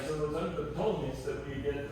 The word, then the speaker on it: Ptolemies: And so it was under the Ptolemies that we get, or just the Ptolemies, you don't have to pronounce the P at the beginning, but I have heard that not.